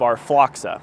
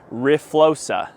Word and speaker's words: RFLOXA: this entire video that explains the pronunciation of our fla that's how I've been saying it the whole video but is actually riosa so just know that